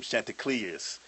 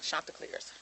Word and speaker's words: Chanticleers: Them Chanticleers. Did I say it right? Yeah. Not Chanticleers. The Chanticleers. Chanticleers. Damn. My bad. I was close though. I got the clears right.